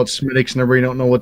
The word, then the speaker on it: Smithwick's: It's spelled Smithwick's, but Oh yeah, it's okay. Yeah. okay. It's actually, if you talk to an Irishman, it's Uncle Al. Smithwick's.